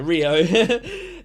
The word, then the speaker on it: Riyo: I mean, mostly the uh mostly Kio, not Kio, Rio.